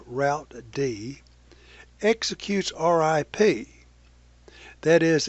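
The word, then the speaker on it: routed: workstation serving as a router a process called route D although that spelled ro ute D is pronounced router D execute our IP that is it maintains routing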